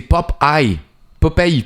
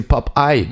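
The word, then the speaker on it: Popeye: C'est pop eye pop pour nous en français mais en anglais c'est pop eye popy et en effet c'est ça vient du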